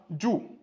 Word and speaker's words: 住: Son pinyin, d'accord? Sa prononciation, c'est comme ça. Ju. Z-H-U. Quatrième ton. Ju.